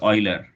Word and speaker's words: Euler: 1932 it was euler it is pronunciation of this is euler you say oil okay euler in 1932